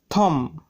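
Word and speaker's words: thumb: থাম, এখানে এমবি আছে তাই বি এর উচ্চারণ হয়নি।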